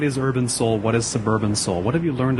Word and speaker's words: Sub→urban: Do you just say Seoul Suburban? Do you pronounce the arrow in any way? No, I just say suburban, yeah.